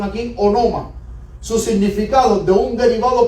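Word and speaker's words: ὄνομα: En griego, miren la pronunciación aquí, onoma.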